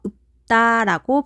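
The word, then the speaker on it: 읊다: 그래서 뒷자음 피읍이 비읍으로 교체되어 발음됩니다. 그래서 읍다라고 발음해야 해요.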